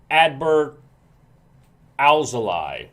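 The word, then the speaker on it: Adbert Alzolay: and in one of those games the up-and-coming advert al-zali that's how you say his name advert also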